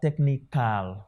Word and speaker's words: technical: see here is that all the words that have this sound so called schwa that i'm bringing them out they can never be stressed it is not possible